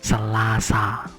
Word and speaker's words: selasa: you start see lazy it's not that selasa ah must be ah it's not a but ah selasa open your mouth as wide as you can to pronounce ah ha ha hey it